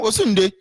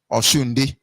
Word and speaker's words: Osunde: He said, this name you just pronounce mean Oshunde. Or Shunde. Yoruba understand what I'm saying. I say, no, it's not Osho.